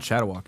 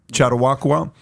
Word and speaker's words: Chautauqua: It's not Chattawalk, is it? Chattawaka Chautauqua institution in New York.